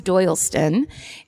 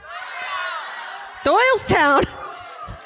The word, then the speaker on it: Doylestown: He buys a house in Doyleston and Ohio. And everyone hates it. No one cheer or I'm saying it wrong. Doyleston sucks. Doylestown.